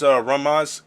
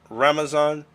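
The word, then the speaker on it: Ramzan: His name is Ramaz Kadyrov. No, let me pronounce the name. Ramazan Kadyrov.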